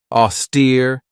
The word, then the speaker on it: austere: one right here auster this has two syllables and the stresses on that second syllable with that long e sound AER if somebody or something